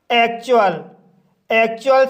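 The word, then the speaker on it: actual: जब किसी वर्ड में टी के बाद यू का कंसोनेंट साउंड यू आता है तब टी का उच्चारण चा किया जाता है। जैसे एक्चुअल शब्द में टी के बाद यू का कंसोनेंट साउंड यू आया है, इसलिए टी का उच्चारण चा होगा, इसलिए इसे एक्चुअल पढ़ा जाता है।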